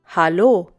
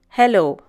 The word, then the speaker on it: Hallo: of greeting in germany notice the difference in pronunciation it's hallo and not hello these days some people